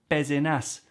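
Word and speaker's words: Pézenas: there's tons of exceptions we're told the s's at the ends of words don't get pronounced so we happily learn pah and ta but then you realize in the south of france there's a couple of place names which are pallavas and bezenas why don't no that's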